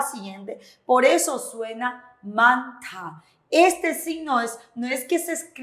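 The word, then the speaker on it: 많다: Por eso suena manta. Este signo no es que se escribe de esta manera, sino se lee de esta manera. Manta. La J desaparece, pero su sonido se mezcla con la siguiente sílaba.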